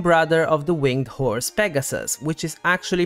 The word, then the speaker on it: Pegasus: of Medusa and brother of the winged horse Pegasus which is actually pronounced pigasus kisa's name is particularly interesting because it either